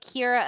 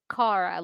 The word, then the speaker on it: Kara: i would have thought it would be like kira until like maybe the final interaction and then she's like cara like i i finally have bothered to learn